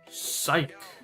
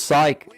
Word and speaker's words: Psych: The silent P or a silent. It's a silent ph.